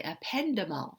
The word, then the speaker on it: ependymal: Okay, but let's not forget the ependymal cell. That's how you pronounce that.